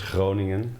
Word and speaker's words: Groningen: Yeah, we've got the harder G, so that makes it like this Groningen.